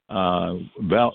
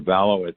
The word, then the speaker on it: Valo: So Velo or Valo, it actually I heard it pronounced both ways.